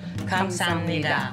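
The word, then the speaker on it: 감사합니다: Kamsahamnida. Kamsahamnida.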